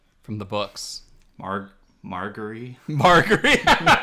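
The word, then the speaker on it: Margaery: Marguerite. Marguerite. Well, you know why? Because Marjorie sounds too much like margarine.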